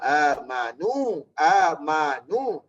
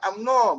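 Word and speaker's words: آمنوا: Tapi kedua kata innal ladzina amanu. Tapi ejaan tu alif min nuwar tu baca amno. Jangan baca amno, baca amanu. Baca amanu. Jangan kata ya ayyuhallazina amno. Oh, jangan. Nak baca ya ayyuhallazina amanu.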